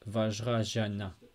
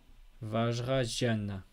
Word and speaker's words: Vajrayana: Mais je prononce Vajrayana. C'est au milieu entre le Z et J et Sh. Vajrayana.